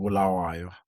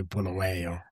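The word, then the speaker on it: Bulawayo: Yeah, born in Zimbabwe city called Bulawa. Most people say Bulway butcher the name of my city.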